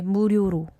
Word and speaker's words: 무료로: 무료, but you can be a little softer with the 리을. So say 무료로.